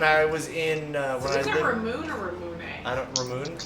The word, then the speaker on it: Ramune: So Rumune is, John, when I was in, Is it Ramoon or Ramune? I don't, Ramoon, probably? Ramune.